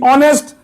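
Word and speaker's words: honest: है ऑनेस्ट समझ गए यह सोचो एच है ही नहीं। सोचना है लेकिन है लिखना जरूर है। अब क्या पढ़ा जाएगा? ओ एन ई एस टी ऑनेस्ट एन।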